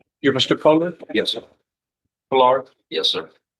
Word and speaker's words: Pollard: Pollard? Yes, sir. The accent is on the first syllable.